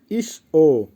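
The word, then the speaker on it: ещё: উচ্চারণ হবে ইস-ও, ঈশ্বর।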